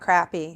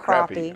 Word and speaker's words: crappie: They're not crappie. They're not crappie. Okay. Sorry about that. Got going a little fast. Crappie. It's spelled crappie. It is spelled crappie, but it's crappie. Okay. Texas pronunciation there.